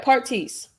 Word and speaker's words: Partice: don't want to miss pronouncing that it is parties or do you pronounce it another way yeah you got it right partise parties that is unique that is unique i